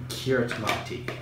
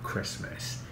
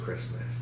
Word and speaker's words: Kiritimati: it looks like I sort of called it kiritimati right because I saw this care of my dad was like no it's actually pronounced Christmas and so it's here as well I'll show